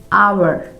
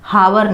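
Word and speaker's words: hour: जैसे honest, आवर, ऑनर, इसे ऐसे पढ़ा जाता है, हॉनर नहीं पढ़ा जाता, हावर नहीं पढ़ा जाता।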